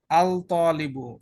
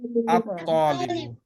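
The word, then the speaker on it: الطالب: হচ্ছে না হচ্ছে না তার মানে আল তালিবু এটা বললে ভুল হবে রাইট হ্যাঁ কি বলতে হবে আত্তালিবু লাম উচ্চারণ হবে না নাম্বার 12 জ তার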